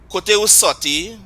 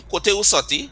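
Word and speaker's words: Kote ou soti: And so let's you say after me, Kote Usoti. Kote usoti. Right? And again, a reference to the French there with the R being dropped. French Mm-hmm. is sortir. Mm-hmm. That R was dropped.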